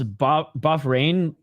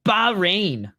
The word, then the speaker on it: Bahrain: I love the commentators call like pronounce buff rain like like a North American would. Bahrain. It's buff rain.